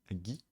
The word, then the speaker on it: 着: Du coup on l'utilise très souvent en tant que suffixe, dans quel cas il va prendre la prononciation gi.